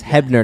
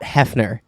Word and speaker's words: Hebner: yes there you go yes hebner not Hefner hebner WWE not Playboy all